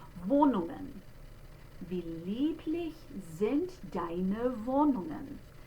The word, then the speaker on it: Wohnungen: And that next sound, notice that it's but not ng. I don't put the hard G sound after it. They don't do that. Wohnungen.